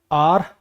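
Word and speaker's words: heir: अब आपको पता है इसके अंदर एच साइलेंट होता है। आर प्रोनंसिएशन होती है इसकी।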